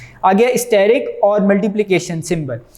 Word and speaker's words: asterisk: Spelling इसके हैं ASTERISK, एस्टेरिक वैसे बनता है लेकिन पढ़ते इसको स्टेरिक है, ए यहाँ साइलेंट है, ठीक है।